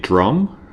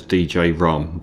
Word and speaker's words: Djrum: Um, you can pronounce it drum, but that doesn't sound as good as DJ Rum.